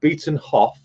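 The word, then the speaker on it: Beetenhoff: uh it is a beaten hoff junction and it's pronounced beaten hoff as in off the beaten track uh beaten off junction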